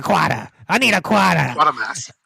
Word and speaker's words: Quatermass: It's quarter. Yeah. Quarter. Yeah. It's not quarter. It's quarter. It's how it's pronounced. It's British. Quarter. Give me a quarter. I need a quarter. Quatermass. Quatermass.